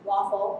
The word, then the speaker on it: WAFL: back one functionality added so waffle pronounced waffle like the breakfast food WAF well architected functionally